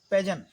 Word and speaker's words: pageant: अगला है पेजेंट। देखिए ये PAGEANT, PAGEANT, ये लिखा है पेजेंट, पेजेंट टाइप का लिखा ना, लेकिन जो टी है ये साइलेंट है, टी साइलेंट लेटर है, इसको नहीं पढ़ेंगे।